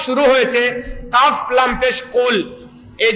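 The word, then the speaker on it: قل: না, তখন আপনি পড়লেন কুল হুয়াল্লাহু আহাদ, পড়লেন। কুল মানে কফ উচ্চারণ না করে কাফ উচ্চারণ করলেন। যার ই কুল অর্থ কি, এই কুল অর্থ খাও, কি করো, খাও।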